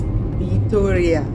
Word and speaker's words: Vitoria: The city we're going to is Vitoria. Yes, that V is pronounced with a B.